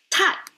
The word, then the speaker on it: 太: All right, tai is how I pronounce it.